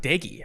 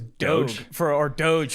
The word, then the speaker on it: Doege: The fact that it's pronounced Doege. I thought it was Doge for a long time, but then I was